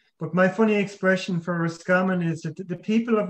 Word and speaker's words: Roscommon: my funny expression for roscommon is that the people of roscommon have a very strange pronunciation of rascamin they tend to drop the r and the o and it's called scumman when you came to